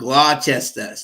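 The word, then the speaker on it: Gloucester: the spellings and and the gler is is is spelled glester like glester like Worchester no Worster yeah right righta yeah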